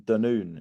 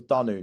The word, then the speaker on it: Dunoon: I thought it was Dunoon. You pronounce it Dunoon, apparently.